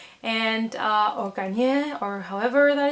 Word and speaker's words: Garnier: But basically this is a movie from 2007 directed by Katja von Garnier, and or Garnier, or however that it's pronounced, like the shampoo, So basically there's this